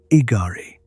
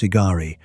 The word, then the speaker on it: Igari: One of those points is called Igari. The name is simple, three syllables.